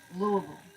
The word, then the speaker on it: Louisville: Pronounced Louisville.